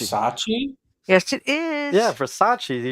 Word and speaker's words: Versace: I have B v v e r s a c e verace verace yes it is yeah Versace you're just saying it wrong well that's what I was spelling to you Versace Versace the woman's like oh